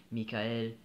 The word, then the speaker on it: Mikhail: french and english so mikhail in french michael in english because i live in an